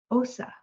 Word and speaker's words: osa: pronounced as and in Spanish uh bear is pronounced as Osa from what I understand um they combine the